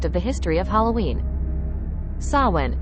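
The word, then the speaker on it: Samhain: a key aspect of the history of Halloween sawin pronounced as sain or sa W is a Gaelic Festival that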